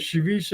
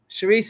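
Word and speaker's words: chouriço: Charisse is a Portuguese version of chorizo, Yeah, they have which is Cherise. Mexican. They have chorizo down south, spelled the same, but it's not pronounced the same.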